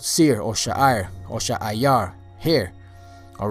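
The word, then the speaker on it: שֵׂעִיר: name that you should know is Seir or Sha'ayar. Sha'ayar. You know, there's sometimes it's spelled Sha'ir, but in most places I saw it spelled Sha'ayar. Sha'ayar. You know, so whether you say Sha'ir or Sha'ayar, the word Sha'ayar means hair, because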